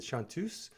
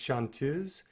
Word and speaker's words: chanteuse: i said yesterday but i mispronounced it i said chantus it's shantuz it comes from the french combination of to sing shantae and ooze they women they feminine so um she just strikes